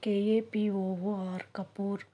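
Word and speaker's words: कपूर: ஹிந்தியில் next word கபூர். கபூர். கற்பூரம். அதை தான் நம்ம கபூர்னு சொல்கிறோம். KAPOOR கபூர்.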